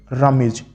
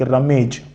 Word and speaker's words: rummage: Word लग सकता है, इसका प्रोनाउंसिएशन ऐसा होगा like रमेज, बट the correct pronunciation is रमीज। रमीज, मी, जो ये मी साउंड है, ये साउंड यहां पे आएगा, रमेज नहीं होगा, it will be pronounced as रमीज।